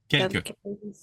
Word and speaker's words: quelques: Yeah, but you can add an extra E to kind of like drag it out. Quelques.